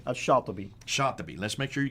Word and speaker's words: Shatibi: Now, how would you pronounce his name? Shatibi.